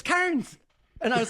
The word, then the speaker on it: Cairns: So then I become a fucking local, and I say cans, and these Irish girls were like, it's not cans, it's Cairns.